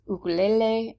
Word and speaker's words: ukulele: that and by the way ukulele is actually pronounced ukulele and hawaiian and that's where it pretty much